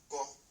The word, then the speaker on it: go: So that's what the next one, which is number 6, the G and the O together, we pronounce go.